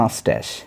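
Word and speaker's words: mustache: অ্যান্ড এবং হ্যাড a long beard and মাস্ট্যাশ, ঠিক আছে। আচ্ছা, এটার উচ্চারণ হবে মাস্ট্যাশ, এখানে লিখে দিচ্ছি, দেখো, মাস্ট্যাশ, তালব স, মাস্ট্যাশ, মাস্ট্যাশ মানে হচ্ছে গোফ, বিয়ার্ড মানে হচ্ছে দাড়ি।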